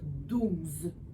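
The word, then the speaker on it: douze: Bon, c'est vrai qu'on peut dire 12. D'accord? Mais étant donné que le E, je ne l'entends pas, ben, je vais dire 12. Fait qu'il y a combien de syllabes? 12. Alors, combien? Une syllabe.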